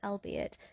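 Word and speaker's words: albeit: anxiety the archaic World albe it does not rhyme with eight you see it with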